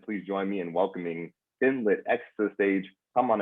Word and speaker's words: FinLit: And so we pronounce our app name FinLit.